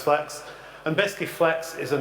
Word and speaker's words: FLX: product what we call flex flx flex pronounced flex and biscuit flex is